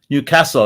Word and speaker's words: Newcastle: Newcastle. That's the proper pronunciation.